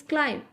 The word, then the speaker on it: climb: So climb on my back. See, students, climb. B is silent here.